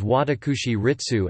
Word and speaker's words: 私立: For example, Sili, privately established, especially school, and Shili, city established, are both normally pronounced Shi-Ritsu. In speech these may be distinguished by the alternative pronunciations Watakushi-Ritsu and Ichi-Ritsu.